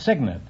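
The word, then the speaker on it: cygnet: No, it's Signet. It's spelled C-Y-G-N-E-T, but it's pronounced Signet.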